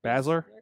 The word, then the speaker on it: Baszler: Baszler.